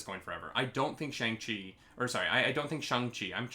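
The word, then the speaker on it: Shang-Chi: don't think shang chi i'm trying to get that freaking pronunciation out of my head because i've been pronouncing it one way since i was a child right but it's shangchi um and i want to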